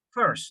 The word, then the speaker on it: first: I have heard, he escuchado que muchos pronuncian este como fierce, okay? Es first, no fierce.